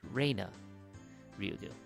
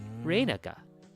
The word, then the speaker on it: Reina: It's not Rena Ryugu, it's Reina Ryugu. レイナか。 Reina ka.